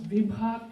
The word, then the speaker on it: Vibha: First of all, I want to say my name is Vibha. That I have written is Vibha. It's BH, joint sound of bha. So Vibha like in Bharat, Bhavi, Bhabhi, right?